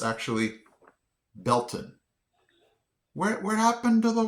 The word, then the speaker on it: Baileyton: This I would have pronounced this Baileyton, but it's actually Belton. Where happened to the Y and the, I don't know, the AI sound? I don't see where that gets Bell, but Belton.